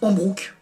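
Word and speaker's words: ハンブルク: Il y a plein de sons qu'ils ont du mal à faire en japonais. En tout cas, ils prononcent Hambrook. Voilà, parce qu'ils peuvent pas faire autrement.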